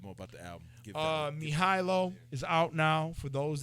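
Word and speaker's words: Mihajlo: a little bit more about the album uh mihailo is out now for those that are listening and can't see me it's spelled m i h a j l o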